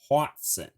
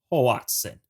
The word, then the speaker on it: hoatzin: partner i am saying watson it does sound a lot like watson and i did double